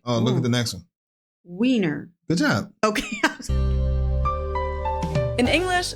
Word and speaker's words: Wiener: The German W is pronounced like an English V, and it usually refers to the sausage.